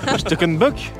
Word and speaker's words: Schneckenbusch: Non pas Bush. T'es pas en Belgique ici une fois. Schneckenbusch.